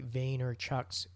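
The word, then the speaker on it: Vaynerchuk: pronouncing um the reason I know how to pronounce Gary Vayner Chuck's name is because that's how he introduces hi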